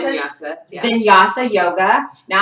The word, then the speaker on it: Vinyasa: Is that how you pronounce Vinyasa, it?